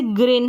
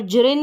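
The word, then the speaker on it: green: और ज भी है जैसे ग्रीन है यहां पर जरिन नहीं पढ़ेंगे ग्रीन है यहां पर जिम है देखिए यहां पर जिम है जिम यहां पर हमने ज पढ़ा ग्रीन में हमने ग पढ़ा ठीक है आगे और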